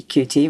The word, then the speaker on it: Qt: but we find that native speakers don't like calling it cute native English speakers yes so in America and in UK and in Australia it tend and New Zealand it tends to be CT whereas in Europe and other places it's cute I feel much better